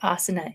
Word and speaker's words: asana: I've got this, the asana is a piece of software, but asana is a yoga practice, just so you get the pronunciation right.